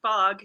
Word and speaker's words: Fogh: manhattan and i'm fogg that h is silent and it's quite appropriate